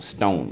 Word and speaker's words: stone: because in this case the silent e makes the oh say o and number 12 is